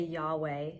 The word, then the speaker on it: Yahweh: When we say Yahweh as it's properly pronounced, it actually mimics a breath.